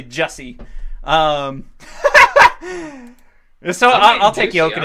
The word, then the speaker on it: Jussi: just thank god yeah juicy so bad you have no idea it's uh it's actually Jessie so I'll take you